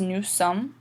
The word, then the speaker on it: nous sommes: You don't pronounce the S at the end, it's just nous sommes.